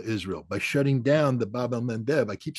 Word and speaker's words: Bab el-Mandeb: And the Houthi have shown the Achilles heel of Israel by shutting down the Bab el-Mandeb. I keep saying that because I finally pronounce it right.